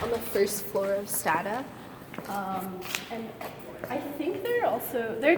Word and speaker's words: Stata: was like, oh, like please pronounce Stata the way data is pronounced, and then someone else